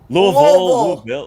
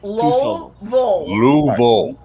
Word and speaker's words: Louisville: where were you louisville louisville two syllables louisville louisville sorry moon bowl got it a guy named lou last name vol louisville got it mr